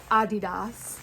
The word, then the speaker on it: Adidas: Adidas is actually the correct pronunciation according to Bob Buys.